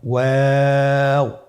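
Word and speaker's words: و: আজকের পর্বের পরবর্তী হরফটি হলো ওয়াও। আমরা স্ক্রিনে দেখতে পাচ্ছি ওয়াও হরফটি উচ্চারণের ক্ষেত্রে বারিক হবে এবং 3 আলিফ টেনে পড়তে হবে।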